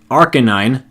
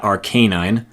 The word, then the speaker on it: Arcanine: little bit of time to talk about the pronunciations I did happen to get right from back in the day. Arcanine, not Arcanine.